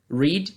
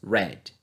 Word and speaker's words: read: não tá escrito errado o verbo read ele é imutável no sentido de que ele não muda a escrita na forma passada porém a pronúncia muda né tanto na coluna dois como na três ao invés de pronunciarmos read pronunciamos read Ok é o único verbo que tem essa característica beleza Cut cortar Cut